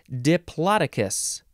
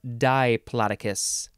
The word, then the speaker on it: Diplodocus: two and uh yeah that's diplococcus next Mimi Diplodocus or Diplodocus d-i-p-l-o-d-o-c-u-s noun from 1884 any of a genus